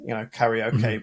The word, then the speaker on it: karaoke: So you say like cat, re, okay, karaoke. Whereas we sort of like punch the vowels together, karaoke.